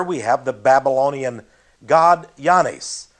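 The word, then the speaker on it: Oannes: And here we have the Babylonian god Yanes. That is spelled O-A-N-N-E-S. Yanes.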